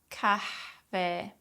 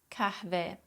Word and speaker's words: kahve: But Turkish H sounds aren't silent. Practice lightly exhaling on the H sounds and go hayat, hayat, kahve, kahve, ahlak, ahlak, kahvaltı, kahvaltı, şehir, şehir, kahvaltıda kahveyle hayat harika.